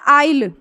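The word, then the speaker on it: isle: तरह से आता है आइल आई एस एल यह हमारा है आइल क्या पढ़ रहे इसको आइल पढ़ रहे हैं एस हम सीधे क्या कर रहे हैं आउट कर दे रहे हैं बस हम क्या पढ़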